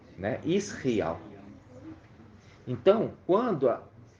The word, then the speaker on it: Israel: é Israel é isso a gente ouvir a pronúncia certinha Israel né Israel então quando é a terra toda ali vai